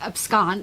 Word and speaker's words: abscond: Some people say abscond, but I think abscond is the correct pronunciation.